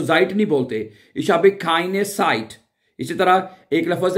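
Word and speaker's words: Zeit: जेड है वो हमें एस की आवाज में प्रोनाउंस नजर आ जाएगा, ठीक है, ओके। जैसे कि एक जुमला बोलते हैं, इशहाबे खाइने साइट, साइट जो होता है वो जेड के साथ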